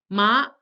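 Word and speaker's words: 马: Ma, ma. The third tone, it falls and rises again.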